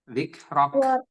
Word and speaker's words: ذكرك: Ada hamasnya sedikit di huruf K ketika dia menjadi sukun. Wa rafa'na laka dzikrak. Ulangi sedikit aja. ورفعنا لك ذكرك. Nah, itu hamasnya nggak kedengar ya. Harus ada kedengaran sedikit aja.